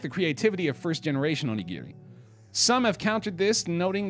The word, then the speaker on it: onigiri: were 151 different varieties it's pronounced like gif onigiri right onigiri there were 152 51 different varieties of onigiri Oh hard G as in Gig or GERD right yet again okay